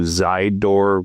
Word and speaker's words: Zydoor: That will also lead you to Zydoor, which is like side, but spelt with a Z.